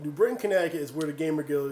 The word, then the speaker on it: Connecticut: That's another one we don't pronounce. But that's like a fun fact for, us New Britanians. That's why we say Connecticut. Connecticut.